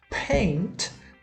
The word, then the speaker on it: paint: Paint, paint, que é o verbo pintar, lembrando sempre da pronúncia do T e o P, que eu tenho que fazer esse som de ar para fora aí, o paint.